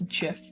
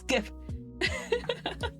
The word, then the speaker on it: GIF: I know the creator of the GIF format said that it's pronounced GIF with a soft G, but um you can suck it. It's GIF. It's graphical. What was it? Graphical something. Format interface interlace inter the G is for graphical.